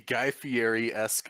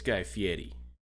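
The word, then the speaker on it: Guy Fieri: recruited um a a guy feres Chef named gristle Pete okay first of all say it right it's guy Fetti guy Fetti come on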